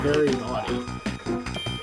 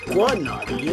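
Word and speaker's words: Very Gnawty: Yes, the boss is actually called Very Naughty. Not Quad Naughty, like I thought when I was younger.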